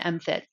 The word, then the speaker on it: MFIT: So um, the book and MFIT both, and that's how we pronounce that acronym, MFIT.